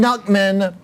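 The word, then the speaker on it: Knuckman: Nuckman, the K is silent.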